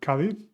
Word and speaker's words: Cádiz: We heard Cádiz with the sounds K, th, that we just learned, Guatemala, juez, which means